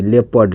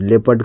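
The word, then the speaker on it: leopard: मतलब ये क्या है रूल नंबर दूसरा ओ का जो साउंड है कहता है यदि ई के बाद ओ आए तो इसका मतलब ओ का साउंड नहीं बोला जाता है वहां पे वहां ओ का साउंड नहीं निकलता है ठीक अब हम तो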